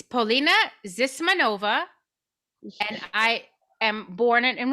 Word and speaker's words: Polina Zismanova: All right, so tell us the true pronunciation and where you're from. it's Polina Zismanova, and I am born in Russia, Ah, and I came here when I was 7 years old.